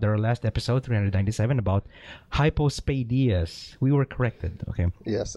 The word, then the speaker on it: hypospadias: last episode 397 about hypospadias we were corrected okay yes and I was saying it wrong I was saying hypos I I was saying it wrong too so hypospadias yeah he says here